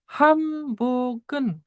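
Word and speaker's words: 한복은: Nah, di sini ada nien sebagai bac bertemu dengan huruf P, maka niennya jadi miem ya, jadi hambogen.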